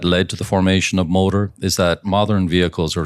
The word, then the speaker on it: MOTER: By the way, I want to say MOTER is spelled M-O-T-E-R because everyone, of course, wants to say MOTER. Right, and that's not a misspelling, actually.